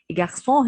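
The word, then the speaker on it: garçon: جارسون هنا السي تحتها شرطة صغنونة كده شبه الخمسة، دي اسمها أكسون شديل، دي بتخليني احول السي بدل ما انطقها كي او كاف بتتنطق زي الاس.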